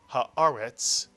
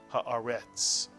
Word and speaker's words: haaretz: And this is a vertical line that tells you to accent the word on this syllable. And therefore the word is read haaretz, not haaretz.